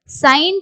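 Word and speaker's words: sign: நம்ம ஜி வந்து உச்சரிப்போம் இதே வந்து சைன் அப்படிங்கிற வேர்டுல ஜி வந்து சைலெண்டா வரும் இதை எப்படி உச்சரிப்போம்னா சை இன் சைன் ஜி வந்து சைலென்ட் அதே மாதிரி ஃபாரின் ஃபாரின் இங்கேயும்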